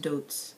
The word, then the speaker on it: Deutz: love it i mean a lot of people say dudes whatever i'm not french um but i believe it's pronounced dudes i'm probably completely wrong and i'm gonna get